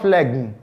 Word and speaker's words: phlegm: Phlegm, not phlegm. It's phlegm.